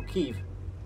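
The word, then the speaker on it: Kyiv: I went to Kiev sorry I mispronounced oh ke it's ke Now isn't it we meant to say ke where's the phone where's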